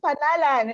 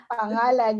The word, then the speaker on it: pangalan: She says panalan. She cannot mention ng. So yes, yeah, one I can point do for that. Maria. Pangalan, yeah. Good for you. Good for you. You can pronounce ng.